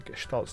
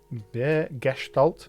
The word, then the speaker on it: Gestalt: I'm pretty sure it is pronounced Gestalt with a sh sound.